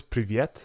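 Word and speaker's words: привет: And the way to say hello is privyet. And the way to say goodbye is paka. So I'm going to think of when I get that bottle in a VIP room, it's very private. Privyet, right?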